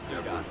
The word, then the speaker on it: Dugat: Pronunciation guide says Dugat.